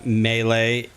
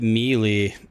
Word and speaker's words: melee: Melee. A lot of people pronounce it mely.